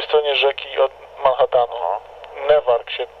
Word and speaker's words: Newark: Newark się pisze, a czyta się Newark.